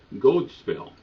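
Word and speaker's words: godspel: comes from an even older English word gold spell g o d e pronounced with a long o gold was how they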